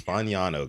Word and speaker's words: Fagnano: And I'm like, it's Fagnano, guys.